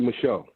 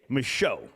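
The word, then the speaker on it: Micheaux: How do you pronounce the last name? M I C H E A UX. Michelle. Michelle.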